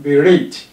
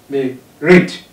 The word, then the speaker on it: berate: The first one here has two syllables. Berate, berate. And we have the last one, which is the second syllable, stressed. Relate, two syllables.